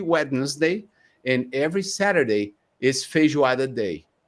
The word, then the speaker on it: feijoada: I don't even know how to pronounce this. So Ha ha ha. Oh, so feijoada.